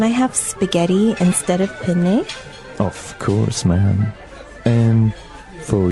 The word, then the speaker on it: penne: We said penne in English, in American English, but in proper Italian it would be Penne. penne. So you double pronounce the consonant.